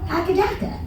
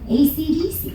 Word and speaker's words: AC/DC: And he said, well, if you sound it out, Akadaka. Can I be the first to tell you that you are the only country sounding out AC/DC phonetically?